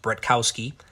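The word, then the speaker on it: Bratkowski: First you have the Zeke Bretkowski, it's pronounced Bretkowski, and it fits into my collection perfectly.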